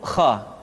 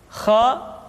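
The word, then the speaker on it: خ: Selanjutnya adalah huruf kha. Kha dikeluarkan dari pangkal tenggorokan. Kha, pangkal tenggorokan. Diucapkan dengan mengalir nafas. Atau lebih praktisnya, pengucapan huruf kha persis terdengar seperti orang yang tidur dalam keadaan mengorok.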